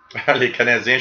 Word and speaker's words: Les Canadiens: Les Canadiens should be pronounced in French.